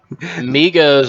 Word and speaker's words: Migos: Migos, like the A is silent? Yes, and there's no 3 in it. It's just Migos.